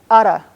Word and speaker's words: ara: the word for Uncle it's a short simple word except it has this special Comanche R in it it's it's spelled ara or area and it's pronounced ara now it's the word